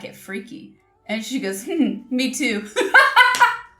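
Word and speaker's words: freekeh: in it and uh was pronouncing it fre no I said like frea or something and the waitress replied and then she started repeating it over and over no no she said freaky freaky and I said I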